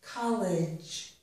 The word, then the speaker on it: college: This is college. Although the letter is E, it also ends in idge.